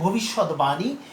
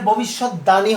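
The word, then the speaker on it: ভবিষ্যদ্বাণী: এখানে ভবিষ্যৎ দানী হওয়ার কথা কি আমাদের পূর্ববর্তী নিয়ম অনুযায়ী, কিন্তু না, এখানে সেই যেহেতু এটি সমাসবদ্ধ শব্দ সে কারণে এটি উচ্চারণটা কি হবে? ভবিষ্যৎ বা নি।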